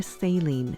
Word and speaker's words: saline: Once the scope is inside the bladder, your doctor will fill your bladder with water or saline (pronounced say-leen) Using the fiber-optic light